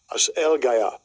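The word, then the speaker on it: ἀσέλγεια: And it says, it's pronounced Strong's G766. As El Gaya.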